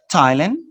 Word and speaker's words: Thailand: thought that those but there are some cases like this that you produce the santa thailand thames the river no and thomas the name of the person let's fast to the